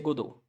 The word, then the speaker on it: Godot: É bem simples, se pronuncia Godot, como no francês.